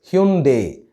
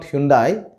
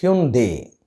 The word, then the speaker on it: Hyundai: The right pronunciation of this word is Hyundai. It is not Hyundai, it is Hyundai.